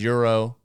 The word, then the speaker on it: gyro: a gumball it's like a euro is currency then there's euro that's spelled gyro quiero it's a lovely